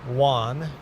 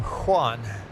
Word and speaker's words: Juan: Most most Americans pronounce my name Juan as if it starts with a W. most uh Africans, most southern South Americans, uh if you're from Spain, most of those people pronounce my name Juan with a H starting with a H sound.